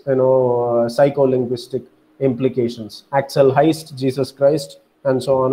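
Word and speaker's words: Heyst: hero is named as Axel Heist you know rhyming with Christ I told you you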